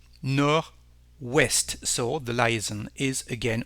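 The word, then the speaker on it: nord-ouest: Northwest North is nor as you can hear there is no D when you pronounce it nor West so the lion is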